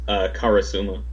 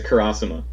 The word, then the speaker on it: Karasuma: with my roommates and they don't know how to pronounce karasuma they pronounced a Kurosawa which is wrong and it's weird to